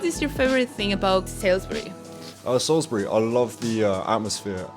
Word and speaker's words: Salisbury: So it's like Salisbury. Salisbury. Yeah, but obviously with a British accent.